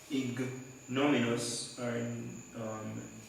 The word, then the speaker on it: ignominious: It's a well-known instrument of most cruel and ignominious pronouns are the right punishment.